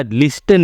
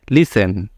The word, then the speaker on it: listen: यहां पे ध्यान रखिएगा लिसन जो है इसका स्पेलिंग है एल आई एस टी ई एन तो ये आपका लिस्टन नहीं होता है टी यहां पे साइलेंट हैका प्रोनाउंस होता है लिसन तो चलिए सबसे पहले